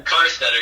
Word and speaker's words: Karsteter: Karsteter, yeah.